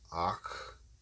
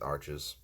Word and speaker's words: Arches: I've used the Arches, which is not pronounced Arches, it's like Ach, but in America we pronounce it Arches.